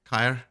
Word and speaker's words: Caer: It's Caer, isn't it? You put a pin in yes, Caer.